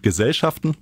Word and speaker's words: Gesellschaften: haut nicht hin ja gesellschaften ist nämlich trotz das ist vielseitig ist und dass dieselben kerne erst mal so aussehen als könnten sie passen ist auf der zweiten silbe betont und witzig politisch